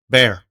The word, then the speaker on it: Bexar: It's It's actually pronounced Bear. The X is silent.